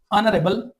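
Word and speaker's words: honorable: मैं कहता हूं एन ऑनरेबल पर्सन। यहां पर देखिए आप क्या कहेंगे कि एच जो है वो प्रोनाउंस नहीं हो रहा इसलिए हम कहते हैं अनसाउंडेड एच है तो इसलिए पहले हम एन लगाएंगे।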